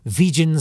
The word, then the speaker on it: vegan: pronounced in his new vegan society newsletter i'm kidding which had 25 whole subscribers he said it's vegan not vegan yeah did you know